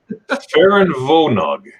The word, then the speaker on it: Ferienwohnung: Ferienwohnung. Ooh. Ferienwohnung. Because the W's are V's.